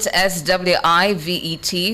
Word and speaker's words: swivet: Your word of the day is spelled sw i v e t spelled sw i v e t. swiv it. Swive it. Swive it. Swivet is your word of the day.